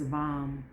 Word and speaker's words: vam: for the sacral chakra is vom v v-a-m v is in victor am and that's what you're